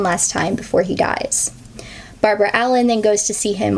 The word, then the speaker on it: Barbara Allen: her name is technically Barbara Allen. However, I already know this song like going into this and a lot of the American versions, like the traditional American folk versions, pronounce it as Barbrey Allen.